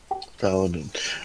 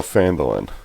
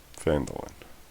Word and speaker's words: Phandalin: Can you spell that for me? Phalidalin. L-I-N? Is that right? Paladin. All right. What's Paladin? No, Phandalin. that is where the kids live. Phandalin.